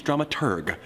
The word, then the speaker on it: dramaturg: The correct pronunciation is dramaturg, the researcher of the plays and operas being put on.